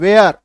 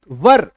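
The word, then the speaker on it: were: जैसे कई सारी चीज जैसे डब्ल्यू ई आर ई हम लोग क्या बोलते हैं? वेयर बट इसका एक्चुअल उच्चारण क्या होता है? व बस व तो इसका शुद्ध अगर लिखेंगे वर वर वधू वाला वर।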